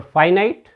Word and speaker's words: finite: Try to understand the pronunciation, the difference in their pronunciations. This is your finite. When you take prefix in before it, it becomes infinite.